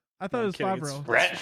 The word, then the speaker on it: Favreau: No, it's John Favreau. Yeah. I didn't even know that's how you say it.